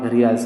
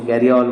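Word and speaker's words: gharial: और घरियाल्स, जो घरियाल्स होता है उस नॉट घरियाल्स, हम उसको गैरियाल बोलेंगे. That is गैरियाल, नॉट घरियाल, गैरियाल. Correct pronunciation is गैरियाल.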